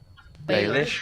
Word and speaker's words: Baelish: name peter bellish bailey should just pronounce it baelish okay balish baelish creepy